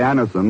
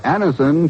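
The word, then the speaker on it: Anacin: You who have received Anison this way know the effective, incredibly fast relief these tablets bring.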